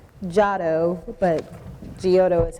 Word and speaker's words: Giotto: You said it the way I would have said it, had I not had the pronunciation, but it's correct. It's Giotto, but Giotto is how it's phonetically spelled.